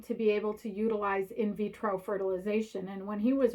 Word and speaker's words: in vitro: floor of the house he didn't even pronounce it right he called it introvedo fertilization he doesn't even know